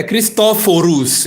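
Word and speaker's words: Cristoforo: a pronúncia a horas o nome Cristóvão Colombo nem é Cristovão Você já viu alguém contestando é cristóforos em italiano cristóforos Columbus Você já viu alguém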